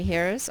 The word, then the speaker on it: here: your sight words okay here's our next one it says here this one makes more sense ear this is a silent e it's only job